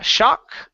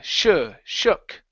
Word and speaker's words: shook: up your mouth okay instead of sha shock it's uh shook yeah there you go